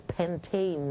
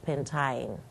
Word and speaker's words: pentane: We must be able to pronounce it as pentane, not pentine.